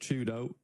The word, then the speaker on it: 4YDO: For Twisted Minds, if you weren't aware, 4YDO is pronounced Chudo.